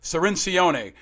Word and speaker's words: Cirincione: The great and powerful Joe Cirincione joins us back on Independent Americans.